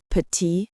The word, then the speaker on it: petite: The final e makes the t audible. Petite versus petite.